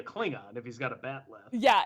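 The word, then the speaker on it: bat'leth: Batleth.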